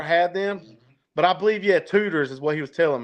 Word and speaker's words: Tudor's: I've never had them, but I believe Tudor's is what he was telling me. Dang. But yeah, is that how you say it? Tudor's, like rooter to the tutor? I think so. T-U-D-O-R, yeah.